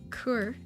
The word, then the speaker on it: Coeur: Coeur. Oh, an archaic term for a dog. Preliminary hearing, I know that. Coeur is pronounced sort of like cur.